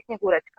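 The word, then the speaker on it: Снегурочка: no, pero porque en la transliteración creo que han metido una T de más, que por algún motivo fonético estará allí, pero que dificulta que se pronuncie. Son Yetmaros y Snigurechka.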